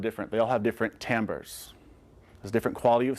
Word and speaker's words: timbre: your sound also called timbre t-i-m-b-r-e is pronounced timbre it creates the character